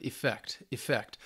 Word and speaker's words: effect: And effect, the noun, it's more of a shortened E, but it's very slight, effect.